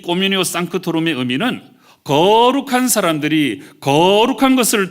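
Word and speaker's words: communio sanctorum: 지금 우리가 사용하고 있는 이 사도신경은 원래 라틴어로 기록되어 있는데요, 이 성도의 교제에 해당되는 이 라틴어 표현은 꼬뮤니오 상크토룸, 이렇게 발음을 합니다.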